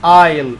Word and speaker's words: aisle: okay aisle number 10 aisle يعني ممر، الممرات الموجودة في السوبر ماركت اسمها aisle، الاس سايلنت لا تنطق.